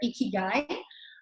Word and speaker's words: ikigai: all looking to have one to have our icky guy this is how you spell it ikigai um and basically it's pretty simple